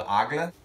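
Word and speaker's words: Aigle: boots that were made by a brand called aga a-i-g-l-e you tell me if i pronounced it right but what they did is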